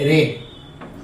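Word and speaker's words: read: ना तो रीड रेड रेड यहां यहां प्रोनंसिएशन क्या किए रीड रीड मींस पढ़ना लेकिन रीड का v2 क्या होगा रेड स्पेलिंग सेम है लेकिन प्रोनंसिएशन अलग है और v3 भी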